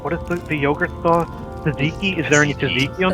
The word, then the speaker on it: tzatziki: I'm sure I'm saying it wrong too. No, you said it perfectly.